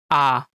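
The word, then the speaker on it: ㅏ: This is read as ah.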